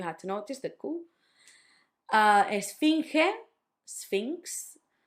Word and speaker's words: esfinge: Esfinge, sphinx. It was the ge at the end that sounds ge, not ge. No, it's not esfinge, esfinge.